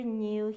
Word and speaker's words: knew: the letters are silent like Neil the doctor knew he needed more medicine we can hear k